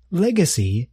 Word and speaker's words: legacy: Legacy is a noun. We spell it like this. L-E-G-A-C-Y. Please note that the word contains three vowel sounds. Legacy. The first vowel sound is e.